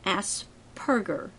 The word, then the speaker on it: Asperger: adopted that term note there are no burgers in Asperger it is pronounced with a p and it's spelled with a p as long as we